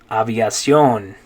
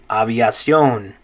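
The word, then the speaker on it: aviación: attention okay next one in english you'd say aviation but in spanish it's going to be aviacion aviacion good in english it's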